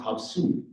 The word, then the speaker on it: Havasupai: we are known as Havasupai which in my language is pronounced Habu which simply means the people